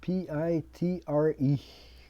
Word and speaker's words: Pitre: So back then, another one, awkwardly, Peter, it's written P-I-T-R-E. I guess he wanted to do something, he went phonetically. It even sounds like a P-I-T-R-E, Pitre Canadien.